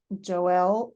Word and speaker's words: Joel: my name Joel but I pronounce her name Joel Zola like Noel yes yeah yeah I